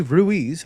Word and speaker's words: Ruiz: uh i'm ruiz i think i mispronounced my own damn name i'm ruiz ruiz uh i'm at ruiz on twitter